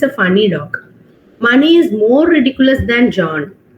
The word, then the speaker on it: Mani: Yeah, Money. I don't know whether he's still there, but he was a very popular man. But the spelling is same, M-A-N-I, but they pronounce it as Mani.